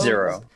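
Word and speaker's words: Xero: I'm testing out Zero shoes. These are actually pickle ball shoes. Is that how you say it? X O Zero. Yeah.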